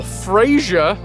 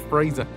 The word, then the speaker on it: Fraser: Fraser or Frasier? Well, considering that I pronounced it Fraser.